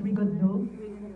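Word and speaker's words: Rigondeaux: So whoever's the champion, whether it's, do you pronounce it as Rigondo? Yes, whether it's Rigondo or anybody else, is ready to face whoever's the champion.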